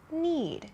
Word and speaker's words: knead: So you can see here, as I talked about at this point, need, K-N-E-A-D, is spelled differently from need, N-E-E-D. Both of these are verbs, but they sound the same and they have different meanings.